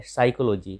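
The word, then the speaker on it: psychology: और एक है साइकोलॉजी, साइकोलॉजी यानी कि मनोविज्ञान।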